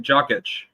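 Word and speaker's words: Jokić: Like you look kind of, you know, look at Jokic.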